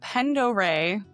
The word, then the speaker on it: Pend Oreille: So this encounter is the Lake Pendore, and I did look that up for pronunciation, so you should be proud of me.